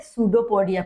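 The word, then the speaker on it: pseudopodia: और इन प्रोजेक्शंस को अपन क्या बोलते हैं, सूडोपोडिया, पी साइलेंट होता है, ठीक है ना, सूडोपोडिया।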